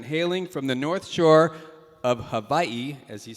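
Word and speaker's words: Hawaii: So, to my direct left, Ron Ortiz II, hailing from the northshore of Havaii, as he said I should pronounce it.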